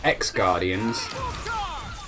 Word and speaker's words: Xgardian: Well, it's supposed to be pronounced Xgardian, but that's an X!